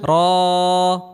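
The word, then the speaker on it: راء: দাল দাল র র র র র হরফটি মোটা করে উচ্চারণ করতে হবে।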